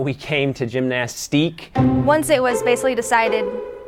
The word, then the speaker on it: Gymnastike: And I was like, hey, call me and tell me how you pronounce this word. And like 3 out of 5 said gymnastique. And I was like, fine, it's gymnastique.